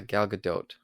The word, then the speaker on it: Gal Gadot: how do you say her name again uh Gal Gadot thank you Galaga dotes uh again is Wonder